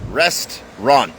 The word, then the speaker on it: restaurant: ครับ ผม นะ ฮะ ต้อง ออก เสียง ว่า restaurant 2 พยา นะ ครับ Restaurant ลอง พูด ซิ